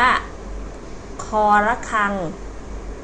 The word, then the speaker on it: ค ระฆัง: ที่ 1 เลย นะ อ่าน ว่า ค ระฆัง ตัว นี้ นะ คะ ค ระฆัง ตัว ที่ 2 ธ